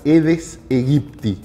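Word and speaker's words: Aedes aegypti: es el el mosquito que se llama edes egipti que se escribe aedes a egipti Sí el edes egipti es básicamente el mismo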